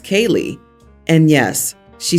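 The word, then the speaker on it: Caelig: my wife suggested C AE l i g pronounced Kay and yes she spelled it out I vetoed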